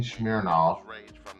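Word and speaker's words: Smirnoff: And Christine Smeirnoff, and that's how you say it, was talking about uh doing another trilogy.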